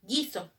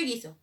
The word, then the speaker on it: guiso: Entonces, por ejemplo, guiso. ¿Cómo se escribe guiso? G-U-I-S-O, guiso. Pero dime, ¿yo escucho la U en guiso? No, entonces no lo escribo. ¿Cómo lo escribiría yo guiso en fonemas?